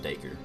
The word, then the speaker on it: Deku: to work out that they obviously intended it to be pronounced deku but i still hear